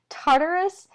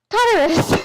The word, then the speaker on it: Tartarus: So I'm going to say Tartarus because that's how I hear it in my head. I might be crazy. Tartarus, the darkest part of the underworld.